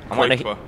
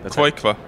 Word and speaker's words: Qojqva: Is that how you pronounce it? End the debate. Qojqva. Say it again. Qojqva.